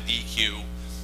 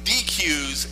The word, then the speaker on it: deque: I call it a deque. A deque is something you have a barbecue on where I come from, damn it.